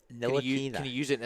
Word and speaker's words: Ntilikina: It's Ntilikina.